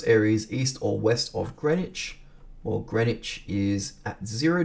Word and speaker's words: Greenwich: greenwich okay and everyone says here greenwich is pronounced greenwich a green which looks like green which is pronounced greenwich okay so it's a greenwich meridian so it